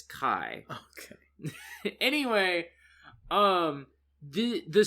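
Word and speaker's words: Kae: a note of it in my head it's kai okay anyway um the the summary does not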